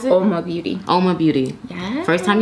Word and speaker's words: Oma Beauty: What is this, the Omi? That's how you pronounce it? Oma Beauty.